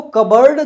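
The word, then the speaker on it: cupboard: क्या बोलते हैं कबर्ड इसमें भाई पी साइलेंट रहता है पी साइलेंट होता है हालाकि आर भी साइलेंट रहता है आपका तो इसको क्या बोलते हैं कबर्ड बोलते हैं क्या बोलते हैं कबड कबड यानी कि जो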